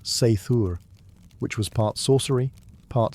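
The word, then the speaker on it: seiðr: Sometimes it relied on magic, specifically a mysterious practice called cider, pronounced seithur, which was part sorcery, part spiritual therapy, and part my ex won't return my runes.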